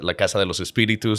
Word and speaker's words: La Casa de los Espíritus: I moved from Mexico, you know, Latin America, right here represent La Casa de los Espíritus, you know. And I'm glad you pronounced the actual title, the original Spanish title, because I certainly...